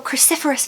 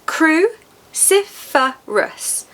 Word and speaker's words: cruciferous: You must eat your cruciferous vegetables, Catherine. Four syllables. Cruciferous. Cruciferous. The second syllable is stressed.